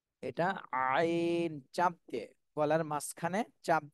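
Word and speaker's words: عين: এরপরে এটা হলো আইন আইন এটাও কণ্ঠনালীর মধ্যখান থেকে হবে কিন্তু চার আলিফ টান দিতে হবে এটা আইন চাপ দিয়ে গলার মাঝখানে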